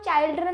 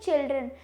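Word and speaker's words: children: इसकी तो प्रोनाउंसिएशन थी चाइल्ड, लेकिन इसको हम चाइल्ड्रन नहीं बोलेंगे, हम इसे बोलेंगे चिल्ड्रन।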